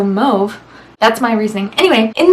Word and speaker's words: mauve: I call it mauve because the AU sound in French is that like O sound. Like you say the word taupe, you don't say, how do they pronounce mauve? Top? You don't say top. So mauve.